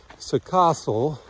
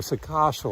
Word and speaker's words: Săcășel: We are leaving a village called Săcășel or Săcășel or Săcaș. It's been pronounced several ways to us.